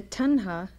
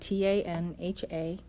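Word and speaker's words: tanha: slipped out of joint Gautama said the Tonga which is spelled ta NHA tan ha desire or craving causes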